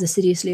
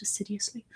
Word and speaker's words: assiduously: Not as assiduously as I would like. Assiduously, not acidiously. It's just an English pronunciation of that.